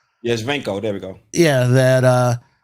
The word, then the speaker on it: Shevchenko: Shevchenko. Yeah, Shevchenko.